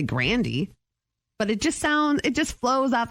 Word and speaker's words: Grande: It's like Ariana Grande is actually Grandy.